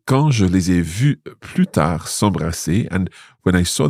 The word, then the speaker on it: plus tard: It's because here we've got the expression plus tard, and in there we never pronounce the S.